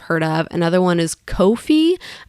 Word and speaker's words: Ko-fi: Another one is Ko-fi. So it sounds like coffee, but it's spelled differently.